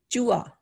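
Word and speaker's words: चूहा: Chua, mouse. It's, we write this as chuha, but we say chua.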